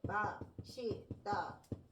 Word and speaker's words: 맛있다: 근데 얘를 맛있다, 멋있다 라고 발음할 수 있습니다.